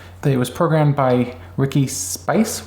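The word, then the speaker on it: Spiece: It was programmed by Ricky Spice. Would you say his name is? Spice or Spice? It's spelled S-P-I-E-C-E.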